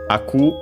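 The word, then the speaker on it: 開く: Uh by the way, hiaku accented au which is the intransitive one for to open uh should be unacented I think. We'll check. Yes, un accented.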